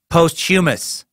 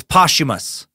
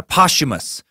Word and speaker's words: posthumous: It's not posthumous. It's posthumous. Yeah, posthumous.